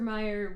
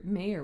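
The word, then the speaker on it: Mayer: in The Matrix yeah Oscar Meer wieners mhm is actually Oscar mayor wieners it's spelled m a ye R is it mhm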